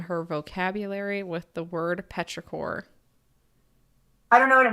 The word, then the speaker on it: petrichor: Petrichor is how you say it?